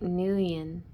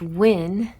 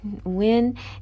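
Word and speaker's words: Nguyen: this but i think new ian is important here what i mean to say it's win right vietnamese i think right win and so it's a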